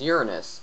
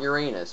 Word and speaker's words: Uranus: So now we're going to go on to the next planet, which is Uranus, not Uranus, because that's how it's pronounced.